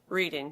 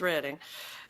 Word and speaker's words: Reading: It was a college professor who taught at Albright College in Reading, Pennsylvania, which I always pronounced Reading, but it's Reading.